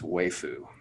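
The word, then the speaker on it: waifu: one was on there i listened to a few videos to make sure everybody was consistent yeah and it's way foo that's pretty cool pretty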